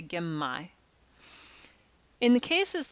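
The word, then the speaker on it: genmai: an M sound likewise gimme brown rice is not again my because again my is kind of hard to say it's a lot easier to say gemmai in the cases like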